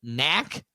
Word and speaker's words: Knack: Could be an older message, but when Brandon Pfaadt and Landon Knack faced against each other. It's two guys whose names begin with a silent letter.